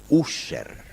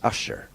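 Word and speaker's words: Ussher: anglicana que es el obispo user se pronuncia en inglés asher user él coloca la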